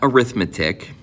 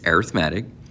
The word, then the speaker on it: arithmetic: Well, first off, that is actually how you pronounce it, not arithmetic, but in this kind of uh topic, it's arithmetic.